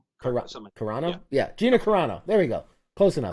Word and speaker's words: Gina Carano: He came out and defended that co-star Gina, I can never pronounce her name. Gina Yeah, Gina Carano. Carano? Yeah, Gina Carano.